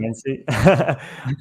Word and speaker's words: Menase: Menase.